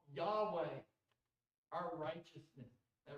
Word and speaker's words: Yahweh: We pronounce it Yahweh.